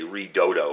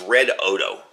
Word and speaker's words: Redodo: First off, people get confused about the pronunciation of this. They say Redodo or something. It's Redodo. That's the correct pronunciation.